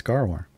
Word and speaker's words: Gaarawarr: out but yeah it's phonetic it's gar war when is the third